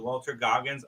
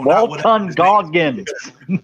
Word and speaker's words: Walton Goggins: My only note to Dan would be Mel Gibson with Walter Goggins. I would have done Danny Glover. Whatever. No, Walton Goggins. Say his name. Walton Goggins.